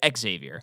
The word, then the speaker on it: Xavier: I didn't pronounce it right. Xavier.